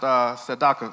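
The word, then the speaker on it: צדקה: Hay una palabra en la Biblia, en el hebreo, que se oye así, sedaka. So there's this word in the Bible pronounced tzedakah. Sedaka.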